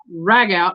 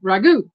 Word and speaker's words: ragout: I'm not sure I'm pretty sure there's two different ways you can pronounce this so I'm gonna pronounce it both even though it's spelled the one what does the term ragout r a g o u t mean or it could be what does the term Ragu mean but I'm thinking